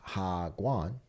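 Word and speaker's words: 학원: And there's a lengthy note here that says, in a nutshell, pronounced Hagwan, sort of like Wagwan, is a for-profit private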